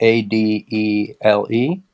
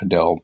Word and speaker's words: Adele: And so is it Adele? Adelle. Le. Okay. Yes. The And E. Broom. And can you spell that for me?